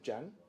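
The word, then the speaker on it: Jia: J-I-A, so Jan.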